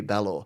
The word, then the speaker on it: Balor: Do they call you Balor or Balor or Balor? It's Balor.